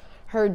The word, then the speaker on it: Hurd: the album is called heard you and it was inspired by my makeup artist L cuz he always says that but we spell it h u r d u like my last name okay heard you cuz